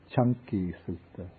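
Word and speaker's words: Caṅkī Sutta: This is called the Chanki Sutta. In Pali, the C is pronounced like CH.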